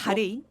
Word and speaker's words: 바레인: 바흐레인, 아랍에미레이트 그리고 한국. 이 나라들 너무 빠르게 시작했고. 바레인? 예, 바레인. 아, 바레인요. 미안해 네. 그 현지 발음이 바흐레인인데 한국식이라고 하시는 거예요. 바레인인데 바흐레인 네.